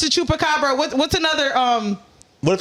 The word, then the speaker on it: chupacabra: I can't say that word chupacabra yeah you said it right did I get